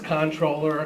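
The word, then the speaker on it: comptroller: with money and it's controller com controller or whatever it is and it's it's from the French and that's how the comp comes in even though you don't pronounce the P all the time I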